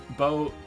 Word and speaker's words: Boeth: to say my name it's both bow as in to bow oh bow yell